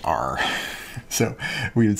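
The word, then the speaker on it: ℝ: a quick notation here this fancy r here means the all real numbers and it's pronounced just r so we would say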